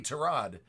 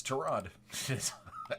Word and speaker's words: Tyrod: anything but yeah yep it's it's trod everybody in the NFL calls him Tyrod right I know it's